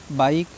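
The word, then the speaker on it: bike: बात याद रखनी है वर्ड के लास्ट में आया हुआ ई साइलेंट होता है उससे हमें कोई मतलब नहीं उसका प्रोनाउंस नहीं करना है बी आई के ई बाइक ठीक है इसी के साथ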